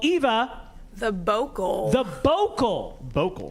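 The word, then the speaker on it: bocal: The vocal. The vocal. Vocal. How do you spell that?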